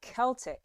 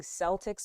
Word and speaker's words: Celtics: The Celtics. So now I've been saying Celtics my whole life. That's incorrect. It's the Celtics. So there it is.